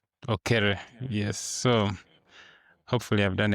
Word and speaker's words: Okere: Today we are joined by Zarc Okere. Off screen, we had just been talking about how to pronounce his name. It sounds like mine, Okelo, but Okere.